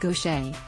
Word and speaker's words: Gauthier: a second career for gautier pronounced gaucher who's 60.